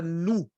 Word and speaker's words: nu: próxima é a letra nu na maiúscula se escreve muito parecida com a nossa letra N mas a minúscula lembra uma um v pequeno mas a pronúncia é como de uma n depois a próxima ela